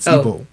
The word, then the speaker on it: Igbo: We were having the conversation before we started today, because you were asking me if I was Igbo. Igbo, Quavo. Yeah. The G is silent. Igbo. Igbo.